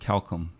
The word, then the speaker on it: Keokham: Last name is pronounced Keokham. Keokham. Yes. And that's not even close to the way it looks how it's spelled.